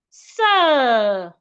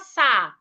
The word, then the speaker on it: sir: Sir. We have letter R after letter I, a longer sound. Sir. It's not sa or se.